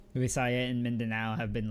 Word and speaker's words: Visaya: Um well the next region is the Visaas which is the middle islands. Yeah. Uh it's Visaya. Oh Visaya. Okay.